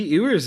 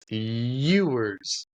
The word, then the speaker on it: Ewers: Maybe Ewers is good. It's Ewers. Like you. Nah, Ewer. Ewers. Ewers. You. I know it's spelled EW, but it's you.